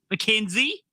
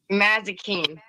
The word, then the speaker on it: Mazikeen: Gosh, Mackenzie or McKenna? Mazikeen. Okay, that's how you pronounce it.